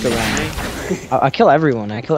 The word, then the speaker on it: Garen: But Bradley, it's pronounced Garen.